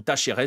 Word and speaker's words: Talleres: Ces exceptions, ce sont Estudiantes et ce sont Talleres, ou Tacheres si vous voulez le prononcer, à l'Argentine.